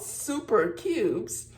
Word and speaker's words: Souper Cubes: And of course, it's called super cubes, spelled with soup.